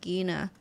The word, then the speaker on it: Gena: want everyone to know that her name is pronounced gina so everyone pay attention now can i